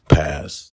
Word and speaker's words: past: For instance, past is pronounced Pass. and hand becomes Hand.